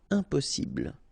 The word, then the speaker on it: impossible: Impossible. Don't insist on the final E. Impossible.